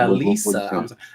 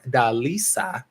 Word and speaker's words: Delisa: Delisa. I have to pronounce her name right. Delisa. Because I've been pronouncing her name wrong for the longest.